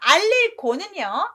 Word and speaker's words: 告: 윗사람이 아랫사람한테 뭔가를 알려주면 알릴 고지만 아랫사람이 윗사람한테 무엇입니다 라고 말을 해드리는 건 제가 알겠습니다 라고 하면서 높임말로 곡 발음을 합니다.